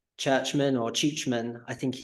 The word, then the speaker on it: Czuczman: And since I've been in Czech, I don't think it's been pronounced churchman once. It's been pronounced Czuczman, and they even call me.